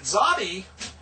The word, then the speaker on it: Tsadi: And Tsadi is pronounced like the TS in bets. Like he placed his bets. The Ts is the Tsadi. So it's technically TS sound. So we'll put TS on that.